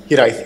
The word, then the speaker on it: Hiraeth: Yes, so, yeah, that's Welsh, fantastic. A little bit. Hiraeth. Did I say it right? Hiraeth. Yes, you did.